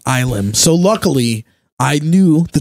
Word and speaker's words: Ylem: I mispronounced it. It is Ilem. To the guitar player at the merch table at the show, and he just corrected me.